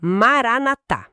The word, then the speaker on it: Maranatha: E atenção aqui, pessoal, a pronúncia é essa. Maranatá.